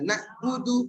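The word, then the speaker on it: نَعْبُدُ: Ain mengalir sedikit. Ba. Ada ketusuknya. Sehingga ketika iyyaka atau iyyaka kedua harus ngalir sedikit. Nah, iyyaka na'budu berarti keliru karena enggak dialirkan.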